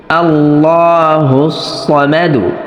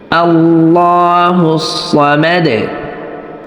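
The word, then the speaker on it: الله الصمد: জবর মা দাল পেশ আল্লাহুস সামাদু। কিন্তু যদি আমরা এখানে রিডিং তেলাওয়াত করি তাহলে দালের পেশ উচ্চারণ করতে হবে না। শুধুমাত্র দালের উপরে ওয়াকফ করলেই যথেষ্ট হইবে। আল্লাহুস সামাদ। আল্লাহুস সামাদ।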